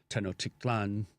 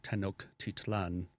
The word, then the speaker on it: Tenochtitlan: So Mexico City originally was Tenochtitlan, if I'm saying it right, Tenochtitlan, which was the capital of the Mexica, which we call the Aztecs, but that was never really their name.